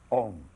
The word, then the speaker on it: Om: Om pronounced starts in the back of the mouth, then fills the mouth cavity, oo, and closes at the lips, When properly pronounced, you have made all the noises.